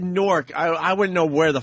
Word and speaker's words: Newark: If you said Newark, I wouldn't know where the fuck I'd be like, what are you talking about? You have to sort of get the W in there. The W is silent.